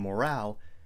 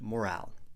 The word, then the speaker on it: morale: You have good morale. Make sure to put the stress on the second syllable. Morale. Morale.